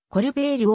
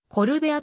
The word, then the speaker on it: Colbert: されている番組名はコルベールをコルベアと発音することにひっかけレポート